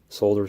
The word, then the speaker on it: solder: solder to each uh solder solder the L is silent you can add some